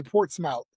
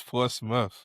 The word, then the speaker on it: Portsmouth: They would say Portmouth cuz that's what it spells. But it's Port Smith.